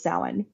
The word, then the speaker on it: Samhain: the actual original name for the holiday was sa spelled Sam Hayne for all of us who mispronounced it for however many years um so